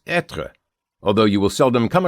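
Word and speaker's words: être: simply translated as is the way to pronounce etra is etra.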